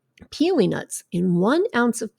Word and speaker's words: pili: she recommended to me this nut called a peeling nut now this is spelled p-i-l-i and it is pronounced like p-e-e-l-y-piling